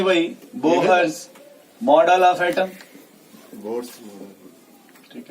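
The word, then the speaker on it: Bohr: ठीक है, इसमें एच साइलेंट होता है, फिर भी किसी को मन करे खींच दीजिए, मन करे तो साइलेंट कर दीजिए। अगर एच को साइलेंट कर देंगे तो बोर पढ़ेंगे, अगर उसको साइलेंट नहीं करेंगे तो बोहर्स पढ़ेंगे, ठीक है।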